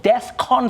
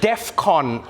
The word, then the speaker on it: DEFCON: not the point but that's not how you say it I know it's not the main issue here I know that but it's Defcon 3. all right not Defcon three and Defcon sounds like